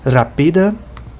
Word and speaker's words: rapida: Todas as palavras em Esperanto, todas as palavras que têm duas ou mais sílabas são paroxítonas, o que significa dizer que a pronúncia, que o acento principal da pronúncia está na penúltima sílaba. Então aqui é a última sílaba aqui, a penúltima sílaba é o pi e a antepenúltima é o ra.